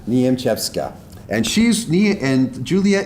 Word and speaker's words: Niemczewska: officer this is julia niemcekwa how did i do not good you're how do you say your last name it's nyam chefska niamchepska and she's me and